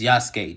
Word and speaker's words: Yasuke: It's Yasuke, just like Sasuke.